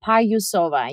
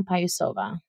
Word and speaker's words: Payusova: My name is pronounced Payusova, Payusova.